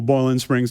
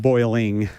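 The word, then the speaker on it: Boiling Springs: It's in beautiful Boland Springs, North Carolina. Notice I said boiling. It's not boiling like that's too many syllables.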